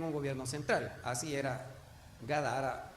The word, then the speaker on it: Gádara: El pueblo de Gadara, o Gádara le pronuncian otros, era la capital de la región sureste del mar de Galilea.